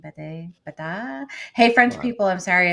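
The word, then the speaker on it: Bédat: her last name uh it's french so that would be not the thing that i could ever pronounce the god french is not my i am not great at french um but it's b-e-d-a-t and there's an accent maxine baday hey french people i'm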